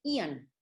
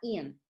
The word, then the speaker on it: Aeon: que hace el parche Ian. Se escribe Aeon, sin embargo se llama Ian.